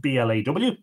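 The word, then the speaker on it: Bladh: of the Cooley mountains from blah BL ADH pronounced BL aw another of Brogan songs was named Shelley of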